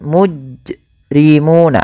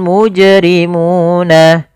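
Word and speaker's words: ٱلْمُجْرِمُونَ: Hamzah atau dia saktah Misalkan mujrimuna ada saktahnya padahal dia ketika melafalkan Qalqalah itu yaitu pantulkan saja secara langsung yoful mujrimuna y mujrimuna kemudian pfalmuna di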